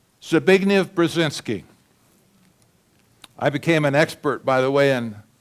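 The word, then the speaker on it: Zbigniew Brzezinski: His name, Zabign Brazinski.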